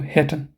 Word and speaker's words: hätten: So hätten. Okay, this will help you with the pronunciation.